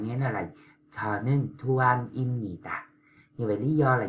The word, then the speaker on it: 입니다: Người ta không đọc là ít ni tà đó.